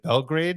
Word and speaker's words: Belgrade: Is it Belgrade? Is that how it's pronounced?